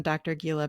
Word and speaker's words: Gila: And on Instagram and Facebook, I'm Dr. Gila Parenting. I know it's hard to spell. It's DRGILA, rhymes with tequila.